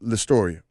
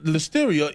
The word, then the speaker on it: listeria: Do you have a member of your congregation that goes by the name Listoria? No, the listeria is a demon. Botched by mispronunciation.